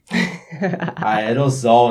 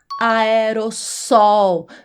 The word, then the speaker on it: aerossol: Quando eu coloquei aí esse mas, o correto, a pronúncia correta é aerossol. Veja que se escreve com dois s, aerosol. E aí você vai pronunciar com dois s, aerossol.